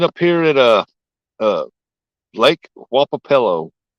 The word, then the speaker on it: Wapapello: That's not how you spell it, but it's Wapapello.